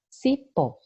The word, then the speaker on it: cipó: Por exemplo, a palavra cipó. Olha o cipó, pó é a sílaba tônica, é a sílaba mais forte.